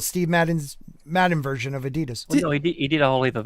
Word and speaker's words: adidas: madden's madden version of adidas he did a holiday of eddie dust if that's what you mean what the oh yeah i forgot australians they call it adidas no adidas what's happening adidas adidas yeah